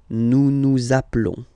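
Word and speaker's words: appelons: Final s doesn't exist. Zaplon.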